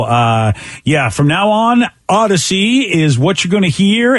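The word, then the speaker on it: Audacy: know we see so we spell it a-u-d-a-c-y because not only we take you on a great odyssey but it's audio so it's odd to see see how we did that audio part audacious part odyssey wait a second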